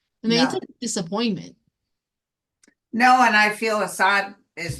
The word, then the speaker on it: Assad: vacation you know what I mean okay so Assad is that is how you say his name